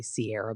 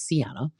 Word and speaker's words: Sienna: I always have to pause for a second when I say her name because I feel like I'm about to say Sierra because of Summerhouse, but it's Sienna.